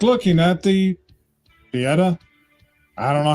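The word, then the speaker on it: Pietà: me so sad it's like looking at the Peta I don't know how you pronounce it yeah it's Peta and that's uh Michael Michael De Michelangelo Michael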